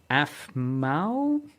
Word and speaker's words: Aphmau: These type of content creators, like Afmau, I believe is how you pronounce the name, APHMAU, and Dream SMP, have turned it into a platform for complex RPGs, wars, and nation building.